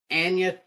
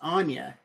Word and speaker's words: Anya: They were talking about Anya Taylor-Joy, which I always thought her name was Anya.